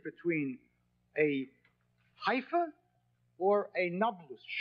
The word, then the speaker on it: Nablus: The Romans conquered Shechem and called it Napulus, Naples. The Arabs have difficulty pronouncing a P, so Napulus became Nablus.